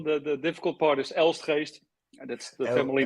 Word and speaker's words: Elstgeest: part is the the difficult part is else haste that's the family name and it has the like the dutch people uh pronounce it so that's why it's very difficult